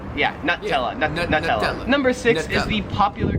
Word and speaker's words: Nutella: Here in Australia, they pronounce it Nutella. Like a nut. Yeah. Nutella. Nut. Nutella.